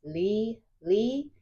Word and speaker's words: Lely: And don't forget, my name is Lely. It's pronounced Lee.